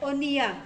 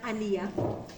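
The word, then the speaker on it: אוניה: Everyone says oniya, not aniya.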